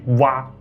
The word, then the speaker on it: 倭: 他们在远古的时候就称自己为倭人，但这个倭发音为蛙，他们称